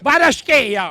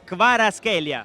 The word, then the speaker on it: Kvaratskhelia: Varaschea. No, Kvaratskhelia.